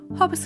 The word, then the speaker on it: Hautbois: foreign ey the wedding planner at hobbis Hall I'm going to give you a full tour of the venue hobbis Hall which is sometimes tricky for people to pronounce is located in Norfolk on a private